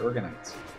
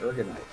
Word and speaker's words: Uragnite: Or we run out of Uragnites. I always mispronounce it. It's not Uragnites. It's Uragnite. Uragnite.